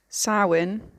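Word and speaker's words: Samhain: Halloween Traditions everywhere are thought to stem from sin uh that's spelled s a m h a i n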